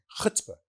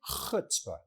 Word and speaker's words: chutzpah: Chutzpah. Sound like you about to spit.